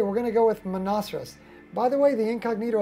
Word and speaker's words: Monoceros: Monoceros? Monoceros. Sounds like a rhinoceros.